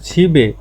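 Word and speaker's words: 집에: ছিবে বাড়িতে, ছিপ মানে বাড়ি, আর এই যে মানে বাতে, তাহলে বিয়োগটা চলে যাবে, তাহলে উচ্চারণটা হবে ছিবে।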